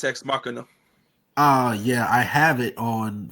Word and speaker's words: Ex Machina: Is that how you pronounce it? Yes. Yeah, it's Ex Machina.